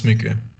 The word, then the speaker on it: Miike: Am I pronouncing that wrong, by the way? I thought it was Miike. No, it's Miike.